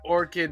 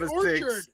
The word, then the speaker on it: Bone Orchard: say that the bone orchid Mythos you said it right Orchard not Orchid orchid's a flower Orchard is a place with tree orchard the bone Orchard